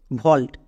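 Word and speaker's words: vault: যেমন এক্সাম্পল দেখো ভল্ট এখানে এ এবং ঠিক তার পাশে ইউ আছে। তার মানে ভাওয়েল ব্লেন্ডিং ওয়ার্ড। এর জন্য সাউন্ড করব ও।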